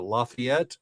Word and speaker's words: Lafayette: And I'm like, if you're a local, you pronounce it Lafayette, and he's like, I'll pronounce it how I damn well want to pronounce it.